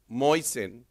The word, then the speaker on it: Moisin: I just want to start by thanking Moisin, to rhyme with poison.